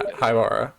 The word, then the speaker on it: Haibara: So, um, Nanami and Haibara, that's how you pronounce his name? Yes. Yeah, Haibara.